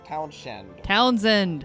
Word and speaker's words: Townsend: Townsend, please. Townsend. I know how to say things. British never pronounces all the letters.